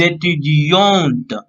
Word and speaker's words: étudiant: For but a student here, so he will last word will be here t. Okay, so he will pronounce like étudiant.